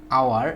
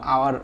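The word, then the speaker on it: hour: এখানে এইচে দেখো আওয়ার, এখানে এই আওয়ার শব্দটা এইচের উচ্চারণ হয়ের মতো হয় নাই, অয়ের মতো হয়েছে, বা আওয়ার বা আয়ের মতো হয়েছে, যার কারণে আমরা এখানে কি বসাবো, আমরা আমাদের রুলস অনুযায়ী এন বসাবো।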